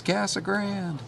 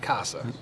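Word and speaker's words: Casa Grande: you're living in that town how do people pronounce it she said it's cassa Grand all right uh but not Casa you can you can give it any kind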